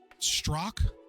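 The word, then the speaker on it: Strzok: records prepared by storzik how do you say it struck that's the only way I've heard it pronounced in multiple news sources and very famous podcasts I getting this stupid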